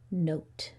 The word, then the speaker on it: note: it's in here oh so the E is silent and the O says his name what's this word um note like a musical note great job let's review